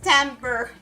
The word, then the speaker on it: timbre: So this way of spelling is pronounced timber. It's a way to pronounce sound.